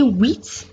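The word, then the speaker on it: huit: whereas wheat ends with take note that the h that begins with is always silent or mute therefore we say wheat and not wheat this the x in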